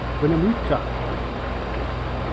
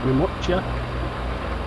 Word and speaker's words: Winnemucca: Well, we're currently running past Winnemucca, and that's how you say it. Winnemucca, Winnebago, Winnelot.